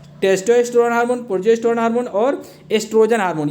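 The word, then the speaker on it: oestrogen: ये जो ओ लगा है इसे साइलेंट पढ़ते हैं, ठीक है, तो एस्ट्रोजन पढ़ा जाएगा इसे।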